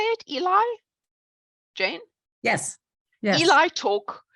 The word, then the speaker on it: ELI: how you say it Eli Jane yes Eli talk I wasn't sure if it was Ali or Eli talk on the um on